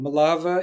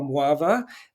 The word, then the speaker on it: Mława: So, for instance, my family's background is connected with a place called Malava in Yiddish, which the Poles resolutely call Mława.